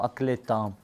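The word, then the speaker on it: عقل تام: You pronounce it Aql Kamil or Aql Tam.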